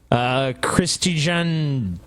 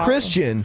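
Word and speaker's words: Kristijan: Christijan Korin. No, it's Christian. The J is pronounced like a Y.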